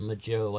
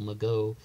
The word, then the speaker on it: Mageau: Ferrin and Michael Mageau he pronounces it Maggio I've always said Michael Mageau excuse me Michael if